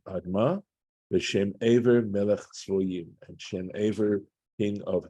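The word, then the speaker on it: צְבֹיִים: This is a Tivkri situation where it looks like Tzviyim, right, the way it's spelled, but we're being told here in this Masoretic note that that's to be pronounced as Tzvoyim.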